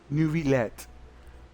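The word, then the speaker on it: Neuvillette: the absolutely just and honorable chief justice nuvet nuet that's how you say his name net as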